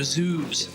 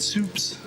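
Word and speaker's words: Zubes: There were zoobs, but she was pronouncing it soups.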